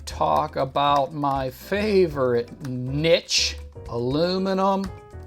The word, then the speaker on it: aluminum: about my favorite Niche aluminum Tomatoes not pronounced aluminium Tomatoes you're being very rude